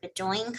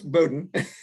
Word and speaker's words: Bowdoin: let's see if I can say this right, Bedoin College. Close, Bowdoin. Bowdoin, okay, Bowdoin College. I make up my own pronunciations.